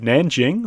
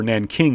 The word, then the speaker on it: Nanjing: a map that indicated the city of Nanjing or Nanking is it stayed on the map it's the same name it's just pronounced a little bit differently that remember was the